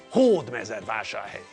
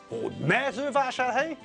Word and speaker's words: Hódmezővásárhely: stress in the correct place, on the first syllable. Hódmezővásárhely. Hódmezővásárhely. Hódmezővásárhely. Hódmezővásárhely. Hódmezővásárhely. Hódmezővásárhely. Okay. So, because it's a Hungarian word, we know where the stress falls.